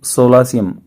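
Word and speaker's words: solatium: के लिए सोलासियम बोलते, सोलासियम इसका प्रोनाउंसिएशन होगा।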